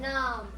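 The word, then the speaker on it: Khnum: I am numb. That's K H N U M. The H is silent.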